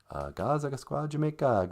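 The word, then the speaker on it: Gaa-zagaskwaajimekaag: I am from Gazagasqua Jamaicog Miigwech Bizendawieg.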